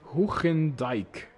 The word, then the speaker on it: Hoegendijk: We have another Slinky fan called Duncan Hoegendijk. That's the Dutch pronunciation, saying slink for the win.